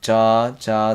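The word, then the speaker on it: ㅈ: So it's a j sound. So ja with a sound. So ja, and this one is cha, ja, cha, ja, cha.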